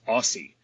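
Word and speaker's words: OSSI: Our guest today is Tom Michaels, professor of horticulture at the University of Minnesota and founder at the Open Source Seed Initiative, pronounced Aussie.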